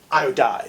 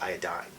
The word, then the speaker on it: iodide: iodide. I think I said that more like iodine. So iodine becomes iodide. Yeah, you have to be careful when you say this to make sure you pronounce it correctly.